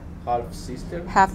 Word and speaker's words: half-sister: Great-grandmother, Mother, Granddaughter, granddaughter, granddaughter, niece, niece, daughter-in-law, daughter-in-law, stepmother, stepmother, stepdaughter, stepdaughter, half-sister. half-sister. Remember the L is silent?